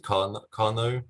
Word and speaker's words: Karnaugh: stands for i think i think you pronounce it carno um it's a surname